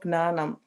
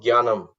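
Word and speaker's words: ज्ञानम्: So this is not gnanam. Jnanam. This Jnanam. gnanam? No, it's pronounced Jnanam.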